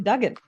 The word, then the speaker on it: Duggan: check with you before we started recording Tim Dugen yes you got it exactly correct God okay